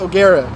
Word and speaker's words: O'Gara: the top dogs at oara I so actually before I continue with my statement it's pronounced Agera just wanted to clear that up I thought it was agara but app apparently it's